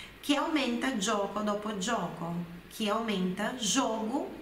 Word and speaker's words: gioco: Então, l'obiettivo del gioco, o objetivo do jogo, olha a pronúncia do GI, gio, do GIO, né? Gioco, gio. Explosiva a pronúncia do G, não é gioco, é gioco, gioco.